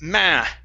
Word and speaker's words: matter: Instead of matter, it's matter. Matter. There you go. Yeah, it's an ah sound.